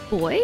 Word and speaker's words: buoy: that's an Australian voice it's boy where you are and we say buoy it's a floaty thing